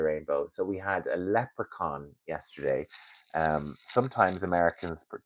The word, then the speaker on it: leprechaun: So, we had a leprechaun yesterday. Um, sometimes Americans mispronounce it as leian.